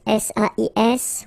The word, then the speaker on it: sais: Okay, so if you look carefully here, you write it S-A-I-S, well, the same way here. Here you write it S-A-I-T, okay, but then phonetically these three forms are the same, and it's c'est, okay?